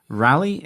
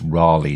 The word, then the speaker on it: Raleigh: to correct you and tell you it's Raleigh, John. Not like the bicycle that we have over here. Okay, not Raleigh. Raleigh. Yeah. So, Spelt the same, but...